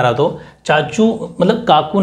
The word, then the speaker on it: तोची: काकू ने, और ते से हो जाएगा तोची, थोड़ा मैंने फिर स्पेस रखना है थोड़ा सा, तोची, TOCHI, ठीक, तोची।